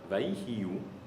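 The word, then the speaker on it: ויהיו: Só que essa palavra, Vaihiu, ela se escreve Vav, Yud, He, Vav, Vav, Yud, He, Yud, Vav.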